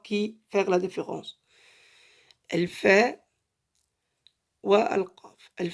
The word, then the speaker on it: ف: Elle fait, c'est on appuie les dents en haut sur la lèvre qui est en bas. Fait. C'est facile. Fait.